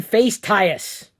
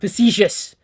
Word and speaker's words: facetious: I was being face-tious. which is not how you pronounce the word facetious.